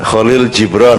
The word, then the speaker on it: Kahlil Gibran: Seperti kata Kahlil Gibran, Kholil Jibron ya? Ya, Kholil Jibron. Karena kamu membacanya dalam bahasa Inggris, jadi diterjemahkan ke bahasa Kahlil Gibran, kan? Penutur bahasa Inggris selalu membalikkan keadaan.